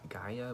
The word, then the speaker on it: Gaia: we have mother nature some people pronounce this a gaia but i i like to pronounce it gia because i like this song's right anyways here we